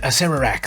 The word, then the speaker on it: Acererak: Number 10 is one of the hardest names to pronounce. Acererak. That's it, Acererak, the Archlich, is number 10.